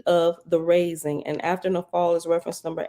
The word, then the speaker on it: naphal: And after nafal is reference number 8. And down at the bottom it says the Hebrew word nafal means the fall, and it's spelled NAPHAL.